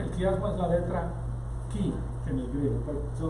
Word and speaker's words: chi: La letra ki en el griego es esta, que parece una X, y es la ki, y se escribe CHI, y de ahí viene la palabra Christos.